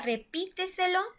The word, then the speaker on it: repíteselo: En el siguiente ejemplo, en la palabra repíteselo, repíteselo, repíteselo. Aquí escuchamos que la sílaba tónica está en la sílaba antes de la antepenúltima.